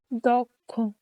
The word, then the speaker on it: দক্ষ: শব্দের প্রথমে অকার, এরপর ক্ষীয় বা থাকলে অ এর মতো উচ্চারণ হয়, যেমন দক্ষ, ও দক্ষ।